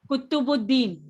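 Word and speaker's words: Qutbuddin: How to pronounce it, ma'am? Kutubuddin, Kutubuddin Kutubuddin.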